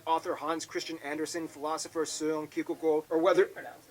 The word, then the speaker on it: Søren Kierkegaard: Hans Christian Andersen, philosopher Søren Kierkegaard, or whether... That's actually how you pronounce his name. Wow. It's not Soren Kierkegaard.